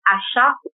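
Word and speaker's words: Aṣa: Africa called ASA but it's pronounced Asha with an h and it's such an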